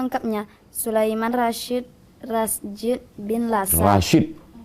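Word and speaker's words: Rasjid: Rashid. J itu Y dalam ejaan lama.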